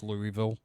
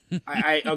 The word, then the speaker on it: Louisville: Now, can I just say it's Louisville? I was going to say, you're going to get a lot of crap from, the Kentuckians. Yeah, it's Marcus. Louisville.